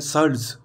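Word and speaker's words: Schultze: mechanism ठीक है ना सल्ट ज नहीं है ये ध्यान रखना ये एल और टी साइलेंट है यहां पे एल और टी इसको बोलते हैं सर्ल्स सल्स ठीक है ना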